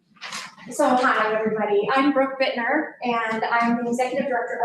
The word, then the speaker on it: Buettner: Brooke Buettner, right? Last name, is that how I pronounce it? Bittner, but that's okay. It's so hard.